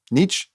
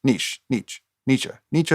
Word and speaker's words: Nietzsche: Nietzsche. Nietzsche is the German philosopher. Niche, I believe, is how you pronounce that.